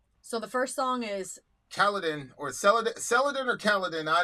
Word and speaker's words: Celadon: So it's Celadon. That's how you pronounce it.